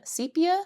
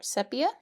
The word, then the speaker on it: sepia: In mine, sepia or sepia? I think it's acceptable to say it both ways.